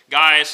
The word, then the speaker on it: Gaius: John's good friend Gaius which can be pronounced uh Gaius as well uh people go back and forth between the Latin and the English how would it more likely be pronounced I'll probably go with guys unless I forget and then pronounce it another way but you'll know who